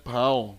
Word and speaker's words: Bao: Pero ang pronunciation ata nun, Pau Papaw. So, para makita nyo kung ano yon o kung ano ito. Okay, so yan yon. So, ito yon. Yan. Okay, hi, Bao. Okay, pero pronunciation daw dyan, Pau. Pau. Ayan, kasi Chinese siya.